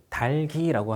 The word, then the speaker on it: 닭이: 물음표가 뜨는 단계인데 에이크만이라는 과학자는 각기병에 걸렸던 닭이 뭐 발음을 좀 닭이 아니고 달기라고 하는 게 맞습니다. 달기라고 할게요.